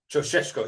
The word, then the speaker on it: Ceaușescu: This is allegedly how you pronounce this name, according to the internet. Ceaușescu.